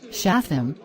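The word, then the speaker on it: שׂטם: Shatham is how you pronounce the word. Satan, in Hebrew, which is equal to the word Satan.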